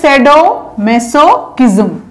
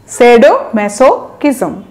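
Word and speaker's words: sadomasochism: আচ্ছা, তাহলে same word দেখেন, স্যাডো ম্যাসোকিজম, ভেঙে ভেঙে উচ্চারণ করবেন, খুবই ইজি, স্যাডো একটা সিলেবল, ম্যাসো আর একটা সিলেবল, কিজম তাহলে কি তিনটা সিলেবল হয়ে গেল, স্যাডো ম্যাসোকিজম।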